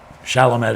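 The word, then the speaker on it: Chalmette: Um, Calamett, Louisiana. Shalomtt is how I've also heard it pronounced, depending on whether or not you're from there.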